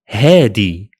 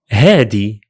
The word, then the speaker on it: هادي: We simply change the letter ذال into دال, and that's all. So هذا becomes هذا, هذا. هذه becomes هادي, هادي.